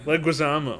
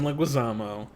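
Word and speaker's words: Leguizamo: me cuz I'll butcher it but John leg leguisamo leguisamo he had a brief role but it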